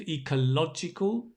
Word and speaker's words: ecological: We've got the adjective ecological. So notice the stress, right? Ecology. Say this with me. Ecology. Ecological. Nice. So see the stress changes for the adjective.